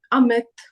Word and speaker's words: Amit: sometimes it might be pronounced as ah. So if we have the name Amit, Amol, Amandeep, it's just a.